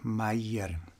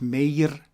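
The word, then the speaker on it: Meier: names are edward albert meyer not edward not albert edward albert meyer and not mayor mayer the combination here of the e and i here is usually pronounced in german as i may hear now the book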